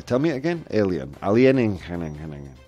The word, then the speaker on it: alienígena: I'm going to pronounce that word correctly. Tell me it again. Alien. Alienígena. Alienígena.